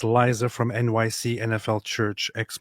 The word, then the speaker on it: Liza: Wait, you just you just said Lisa like like Lisa Manelli. How do you do you mean Liza? I'm not very good with Americanization of names. Is that how you pronounce that, David? Do you say Liza? I would say Liza Manelli.